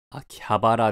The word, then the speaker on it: 秋葉原: 血液型がある秋葉原の読み方はもちろん秋葉原であるが普通に漢字を読むと秋葉原と読めるこの歯と場が入れ替わることを温い転換といい音の並び